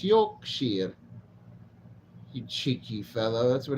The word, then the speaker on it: Yorkshire: a friend from Yorkshire I used to pronounce it Yorkshire then he corrected me no it's Yorkshire you cheeky fellow that's